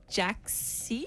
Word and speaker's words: JXCKY: supported by Jackie Lumsden and Jaxie. We don't know how to say it. Yeah. Jaxie or Jackie. JXCKY. How would you say Jackie, that? Jackie. It's Jackie, yeah.